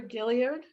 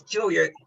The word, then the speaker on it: Gilliard: disabilities great thank you and Gilliard is that have I pronounced it correctly it's Julia thank you thank you hi